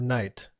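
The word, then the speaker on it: knight: make sense you know if I'm looking at the word night and it's got a K in front of it I'm like why is there a silent k in there why not just get rid of it or the word knife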